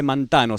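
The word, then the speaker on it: μανθάνω: Y habíamos visto que aprended es una palabra griega que en griego se dice mantano, se escribe mantano, y significaba aprender por investigación o aprender por observación.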